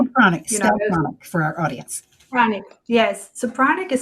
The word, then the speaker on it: pranic: So, that's panic healing. And um the word healing, panic, stop for our audience. Pranic.